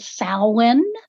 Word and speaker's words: Samhain: And we actually pronounce that Samhain.